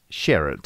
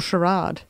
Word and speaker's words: Sherrod: And Kate Sherrod. Or Sherrod. Sherrod. That silence there was Kate us. Sherrod. Was us doing charades for Kate. It's one word, one syllable, Kate.